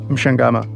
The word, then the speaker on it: Mchangama: Tell me how you pronounce it. Mchangama.